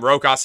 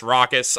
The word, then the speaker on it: Rokas: his minutes and also I keep calling him rokas his real name it's pronounced rockas I just can't remember